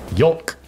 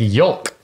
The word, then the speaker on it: yolk: the L Fair assessment apparently the L is silent I take the L yeah it might be a regional thing I say it like shulk yolk egg yolk egg yolk uh okay